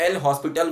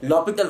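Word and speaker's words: L'Hôpital: मैंने कराया था आपको कि लॉपिटल रूल, जिसको आप एल हॉस्पिटल बोलते हो, एल हॉस्पिटल, उसको सही प्रोनाउंसिएशन एक्चुअली लॉपिटल होता है, ठीक है ना।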